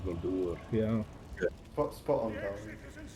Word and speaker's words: Dol Guldur: That's did you hear me pronounce that, by the way? Dol Guldur. That was very good, wasn't it? Dol Guldur.